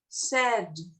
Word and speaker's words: said: And the pronunciation is said. Said. Said. Said. Said. Yes. Said. Said. Said. Sad is the opposite of happy. Sad. This is said.